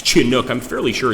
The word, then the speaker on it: Chinook: And I wasn't saying Chinook. Good God, it's Chinuk. I'm fairly sure it's Chinuk.